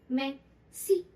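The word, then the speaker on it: merci: मैं सी, मैं सी, मैं सी, मैं सी। इसमें एच की साउंड भी आ रही है। जब भी आर आएगा थोड़ी सी एच की साउंड जरूर आएगी।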